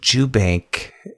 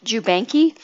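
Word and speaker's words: Jubanke: by a company named jubank e j-u-b-a-n-k-e and it has the the e is silent jeff i know but see i wasn't sure because eloquence pronounced it ju banky my first thought was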